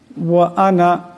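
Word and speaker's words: أنا: শুদ্ধ হয়ে যাবে আল্লাহুম্মা আনতা রাব্বি লা ইলাহা ইল্লা আনতা খালাকতানি আনা এখানে আনা নুন কে লম্বা করা যাবে না আনা এমন ভাবে পড়তে হবে আবদুকা আলা আহাদিকাদিকা মাস্তাতু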